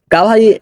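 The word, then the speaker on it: گواہی: একটু আগে আমার ভুলটা হয়েছিল গাওয়াহি দেতাহু মাই উচ্চারণ হবে এরকম গাওয়াহি গাওয়াহি অর্থ হলো সাক্ষ্য দেতাহু অর্থ হলো দিচ্ছি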